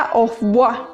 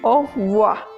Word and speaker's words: au revoir: Y no, resulta que como está escrito con B chica, nosotros tenemos que pronunciar como si fuera una F. La pronunciación en francés para la V es más como una F.